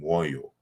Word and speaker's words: moyo: And the word moyo, as it is pronounced in the Kikongo language, is in Chiluba, moyo, with the M is rounded with the labial W, moyo.